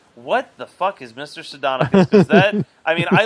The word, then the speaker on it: Sardonicus: Sardonicus, yes. Sardonicus. What the fuck is Mr. Sardonicus?